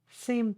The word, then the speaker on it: seemed: correct ah thank you one syllable seemed not seem to ah seemed okay now